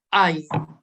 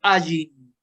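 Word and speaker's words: עין: Y esta no se pronuncia. Esta y la Aleph son las dos que no se pronuncian. Se dice que se pronunciaban antiguamente, pero el sonido era tan difícil tanto de la Aleph como de la Ain que se ha perdido.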